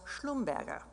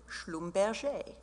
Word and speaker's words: Schlumberger: It was a Protestant family whose German side was Schlumberger. Now, once they went to Paris, they changed the pronunciation to Schlumberger.